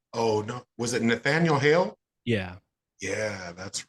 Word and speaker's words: Hale: no was it Nathaniel Hale yeah yeah that's right which is interesting because his name Hale rhymes with Yale Yale Yale's a name